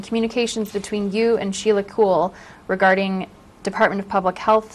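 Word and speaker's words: Kuehl: any other written correspondence do you know Sheila cool yes I do am I pronouncing her name correctly cool so have you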